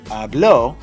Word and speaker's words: habló: Now, if I wanted to say habló, I'm forcing the reader to raise the voice on the last syllable.